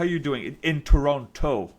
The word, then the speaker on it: Toronto: how you doing in Toronto because remember the second T we have to pronounce it right no no no we're not supposed to to announce we're not supposed to pronounce the second te that was the whole